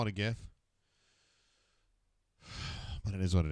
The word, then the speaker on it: GIF: for graphic it does uh hard G that's how how I always felt about it but the guy who actually made the I normally call it gif says it's GIF so I hate that